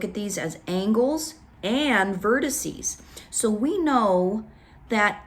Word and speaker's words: vertices: make it plural and we say the word vertices vertices we change that X to a C @es vertices vertices three syllables we can handle it